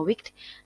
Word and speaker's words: WCKD: Di sini terlihat bahwa Something, nama Beauty, Sada by Cathy Sharon, sama Wicked, WCKD atau ya singkatannya, tapi bacanya adalah Wicked.